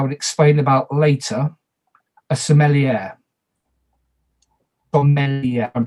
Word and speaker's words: sommelier: Another village role, who I will explain about later, a sommelier. Sommelier, I'm pronouncing that correctly.